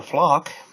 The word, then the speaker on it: Phlox: So there's a nice view of the flock. It's spelled like Phlox. It's kind of spelled kind of funny, but that purple stuff right there, or pink, they're pretty cool.